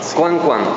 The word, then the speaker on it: Coan Coan: Koan Koan. Así es como se pronuncia.